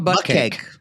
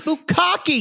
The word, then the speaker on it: bukkake: It's like, is that how you say it? I'm like, no, it's bukkake, you rube.